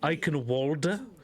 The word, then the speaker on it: Eichenwalde: But for now, we are an Eichenwalde, I believe is the pronunciation.